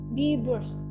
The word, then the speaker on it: Brust: Kata huruf ST di akhir kata akan berbunyi seperti S. Contohnya di Brust.